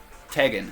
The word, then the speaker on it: Tegan: Tegan. So it's like Megan with a T.